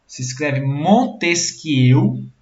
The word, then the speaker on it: Montesquieu: que é vai acabar jantar Montesquieu se fala se escreve ó 10 Montesquieu francês que vocês vão fazer o biquinho motoeste